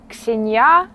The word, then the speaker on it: Ксения: здесь на самом деле как произносится ксенья ксенья суша Ну